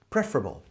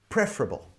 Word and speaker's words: preferable: Some people say preferable with the stress on the pre part. And the E sounds like e as in bed. Preferable. Preferable. Preferable.